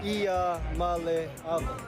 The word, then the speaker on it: Iamaleava: The correct way to pronounce my last name is I am a Lava.